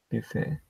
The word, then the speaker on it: buffet: T is silent in French, so buffet.